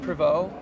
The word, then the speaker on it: Prevost: And is it pronounced Prevost? Yeah, Prevost.